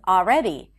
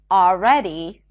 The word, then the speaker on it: already: next hack is that you don't have to pronounce the L in the words always all right and already it's not a mistake to pronounce the L but if you're struggling with the L just drop those sounds simply pronounce an ah sound right before always already all right